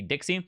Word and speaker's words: DXY: the dollar currency index it is abbreviated dxy and it's pronounced the Dixie the dollar currency index